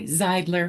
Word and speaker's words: Zeidler: our guest, and I always say her name wrong. Is it Zidler with an I? Zidler.